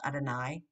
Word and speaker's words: Adonai: in the actual prayer the divine name is pronounced adonai and may be spelled